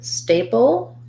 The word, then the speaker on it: staple: in the word staple we have an a diphthong stressed first syllable stay pull and then we have a syllabic l so it's going to sound like the word stay and then it's going to sound a little bit like the word pull except that i'm not going